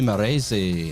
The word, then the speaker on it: Marresse: And tonight very happy to be joined by Morzi. How you doing? I'm doing good. Thanks for the perfect pronunciation then.